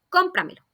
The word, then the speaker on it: cómpramelo: Y también vamos a marcar siempre la tilde, como es, por ejemplo, la palabra cómpramelo. Esta palabra tiene su sílaba tónica antes de la antepenúltima sílaba y marcamos la tilde.